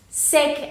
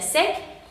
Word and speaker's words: sec: Sec, aquí se pronuncia sec, porque la C final no viene en la lista de las letras que no se pronuncian, entonces sería sencillamente sec.